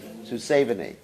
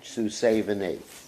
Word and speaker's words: Susavani: Susavani. It's not SH. It's Susavani. Devidasi ki jai.